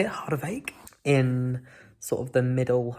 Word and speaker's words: Harderwijk: I've learned how to say it, Harderwijk, in sort of the middle and the north of the Netherlands.